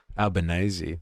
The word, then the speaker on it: Albanese: This is an interview between someone called Carllis and someone called Albanazi. Uh not Smith and Jones. Alanazi, that's how you say it. Interesting. I've always wondered what his pronunciation of this was.